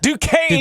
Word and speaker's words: Duquesne: I believe it's, I can't even pronounce the name. Duquesne? Duquesne.